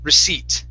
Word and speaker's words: receipt: The P is silent. Okay, the word is pronounced receipt.